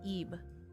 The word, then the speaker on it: Ib: Is this not pronounced Ib?